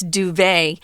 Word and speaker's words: duvet: French word d-u-v-e-t you don't pronounce the T it's duvet and that's just the